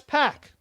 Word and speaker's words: PAC: PAC to become pack if you want it to be pack guess what put a little accent mark there put a k put two C's may maybe spell it like my carean friends where do p a that's pack but Pac is Pac I'm sorry xpac Tac Pac it's not pack it's Pac so anyway Pac soan